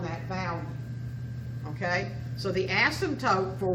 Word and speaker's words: asymptote: There's something called an asymptote. A-S-Y-M-P, the B is silent. Asymptote.